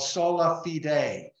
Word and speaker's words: sola fide: Now, the Protestants rely on another Greek word, phrase called sola fide. Sola fide, and I kind of phonetically spelled it out there, long E, long A, sola fide, faith alone for their source of salvation.